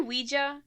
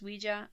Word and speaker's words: Ouija: and we did uh i say ouija because i swear i heard that somewhere that it's pronounced ouija i don't care how